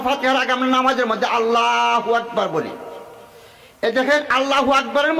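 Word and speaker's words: الله أكبر: তাই আমরা আল্লাহু আকবার না কয়ে সেটা যদি আমরা বলি আল্লাহু আকবার, সহিহ হলো এইভাবে উচ্চারণ করা, আল্লাহু আকবার। আলিফটা আমরা উচ্চারণ করি না, আমরা কি কই? আল্লাহু আকবার। আলিফ কি উচ্চারণ হইল?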